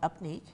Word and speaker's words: UPNEEQ: It's called Upneat.